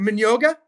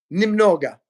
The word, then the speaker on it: немного: How do you say, is it Minyoga? Я понимаю Minyoga русский? Немного, Nimnoga. which means little.